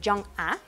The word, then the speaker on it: Jung-ah: Corte de la historia, está Jung-ah, se pronuncia realmente Jung-ah, que es una maquillista y youtuber, es otra persona de origen humilde, ¿no?